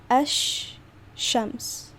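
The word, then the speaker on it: الشمس: You see how it is pronounced like there are 2 sh sounds, right? Ash-shams.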